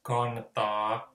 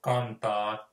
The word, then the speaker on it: kantaa: So, to fall is kaatua, to carry is kantaa. Sorry, that can, it should be a bit smoother, so kantaa.